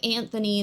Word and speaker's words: Anthony: I mean same with Anthony there is in fact uh nonsilent T in that name Anthony I thought Anthony